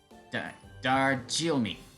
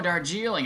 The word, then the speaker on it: Darjeeling: Darjilmi. Wow, that's a fancy word right there. Oh, Darjeeling. I know what that is. No wonder I didn't know what Vanilla's talking about. She said it wrong.